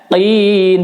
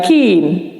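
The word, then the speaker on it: المتقين: Di sini ada huruf qaf baris kasrah. Ya. Qin, bukan kin. Hudal lil muttaqin, bukan muttaqin. Nanti jadi kaf kalau gitu.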